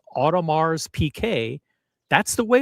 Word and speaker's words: Audemars Piguet: Audemars Piguet. The emphasis is on that second syllable.